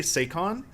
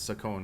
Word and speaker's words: Sakon: it's weird i said i used to say sakon uh when i was a kid but i mean if it's japanese it's sakon right s-a-k-o-n sakon sakon and stuff like that